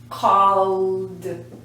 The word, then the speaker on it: called: category is call yesterday I called you I called did you get the message called it's a vibration there so when we put it in the past we say called I don't want to